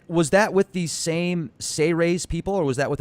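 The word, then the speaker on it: Seyrehs: It's actually pronounced Seyrays, as if it was spelled SEY-REHS, or Seyrays. Seyrays, okay. So instead of Sea Ray, like the boat, we'll call them Seyrays. Yeah, I like that. It's not series like the World Series, it's Seyrays.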